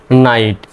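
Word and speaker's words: knight: একটু পরে আপনাদেরকে দেখাব এন আইজিএসটি কেন নাইট উচ্চারণ হয় এন আইজিএসটি নাইট এই লেসনের মধ্যে সেটাও আছে এই ক্লাসের মধ্যে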